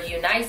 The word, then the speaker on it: UNice: And today we do have another sponsor, and this is actually UNice Hair or UNice Hair. A lot of people pronounce it either way.